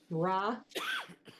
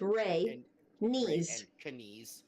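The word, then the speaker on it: Rhaenys: earlier you missed it raw no it's rey it's rey knees knees knees phonetically sorry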